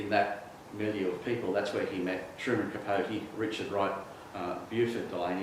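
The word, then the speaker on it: Beauford: So in that milieu of people, that's where he met Truman Capote, Richard Wright, Buford Delaney, it actually is pronounced Buford, and James Baldwin in Paris.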